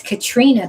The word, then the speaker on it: Caitriona: So here so here so it's Katrina, but it's so not spelled like Katrina.